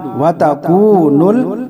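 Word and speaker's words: وتكون: हिज्जे यूं करेंगे, वाव ज़बर वा, ता ज़बर ता, वता, काफ वाव पेश कू, वतकू, नून लाम पेश नुल, वतकूनुल, जीम ज़ेर जी, बा अलिफ ज़बर बा, जीबा, लाम पेश लू, जिबालु, वतकूनुल जिबालु, काफ लाम ज़बर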